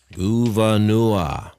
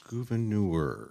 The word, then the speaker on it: Gouverneur: How do you pronounce your first name? Gouverneur. Gouverneur. Gouverneur.